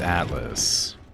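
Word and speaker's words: Atlyss: Atlas that's it yes it's Atlas spelled with a Y and two s's anyway my friend's playing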